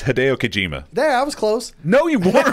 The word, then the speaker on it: Hideo Kojima: that good keep it Joe how do you pronounce his name its Hideo Kojima that was close no II work anyway like